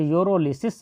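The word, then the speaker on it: pyrolysis: हिंदी में हो तो यूरोलिसिस दिया होगा, जबकि इंग्लिश में हो तब भी एक्चुअली लिखा तो होगा यूरोलिसिस ही, जबकि उसमें पी साइलेंट होता है।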